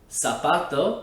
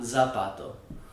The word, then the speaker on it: zapato: for english speakers because it's actually always pronounced just like the letter s it's not za zeta that's why words like sapato which means shu is pronounced like that salfato and not zapato the word gasar which